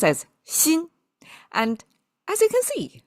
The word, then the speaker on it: 鑫: When three of them put together, it's pronounced as shin.